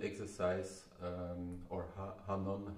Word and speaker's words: Hanon: today will be about hanon exercise um or hanon how long depends how you say it's actually a french guy so it's pronounced hanno it's this book the